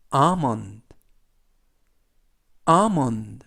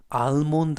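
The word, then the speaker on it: almond: 뭐 오는 어 얘는 느 튀는 득 그래서 아몬 암은 라고 발음합니다 뜻은 견과류 아몬드 가 되겠구요 발음을 알몬드 라고 발음하지 않습니다 h 는 크 깨어있는 개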